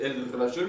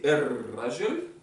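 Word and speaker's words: الرجل: El Rajel, hein, j'ai prononcé El Rajel, mais c'est R Rajel.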